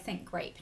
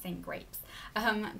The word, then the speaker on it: St.Grape: Yeah, St.Grape, not St.Grapes.